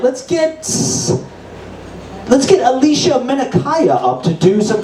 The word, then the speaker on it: Alysha: is Alicia uh I I pronounce it Alicia and um it's spelled a l y s h you know like dreams